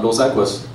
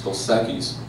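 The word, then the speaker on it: Dos Equis: the the Mexican beers it's not do sequist it's do sakis it's not Negroes modellos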